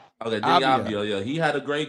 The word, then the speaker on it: Deni Avdija: Deni Avdija. Okay, Deni Avdija.